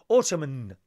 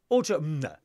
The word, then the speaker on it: autumn: it I dare you try Ottoman autumn it's autumn autumn has no N and is silent I do English programs